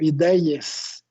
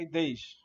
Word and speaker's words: IDEIES: Fico imaginando pessoas ligadas ao FINDS e ao IDEIES. É assim que pronuncia, Marcelo? IDEIES. Não, a gente tem Instituto... muitas ideias, mas é IDEIS. O nome é IDEIS mesmo.